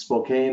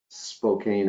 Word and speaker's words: Spokane: Spokan no I can't remember now if it's Spokane or Spokan I know you make fun of